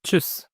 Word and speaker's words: tschüss: أو tschüss tschüss أو tschüss، دي ت وبعدها اس سي ها نطق شين.